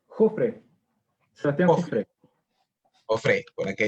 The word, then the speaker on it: Jofre: Sebastián, tu apellido se pronuncia Jofre. ¿Jofre? No, Jofre.